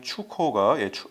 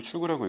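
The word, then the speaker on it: 出口: 보시면은 출코가 수출입니다. 한국식으로 출구라고 읽겠지만은 21.1% 상승했습니다.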